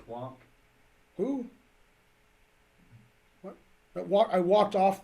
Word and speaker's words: Planck: It's Max Planck. It's not plank, it's plonk. P-L-A-N-C-K. Yeah, I know. That's plonk, that's how it's pronounced. It's plonk. Oh, I don't get the rule then. Well, wait, It's a different longa plonk. as an E, longa. Right. Plonk is plonk, not plonka, plonk.